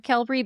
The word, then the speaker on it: Qelbree: Viloxazine or Qelbree? Woo, that's a mouth. It's actually viloxazine or Qelbree, but I also have trouble pronouncing it, so I think this may be genetic.